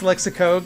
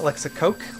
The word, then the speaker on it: Lexicog: And it's Lexicog, not Lexicoke, like I said in the video, my mistake.